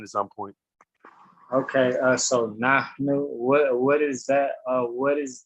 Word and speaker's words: nahnu: Now, in that particular word, that pronoun, that H is what we call an aspirant H. And an aspirant H means that when you pronounce it, you let air come out like this.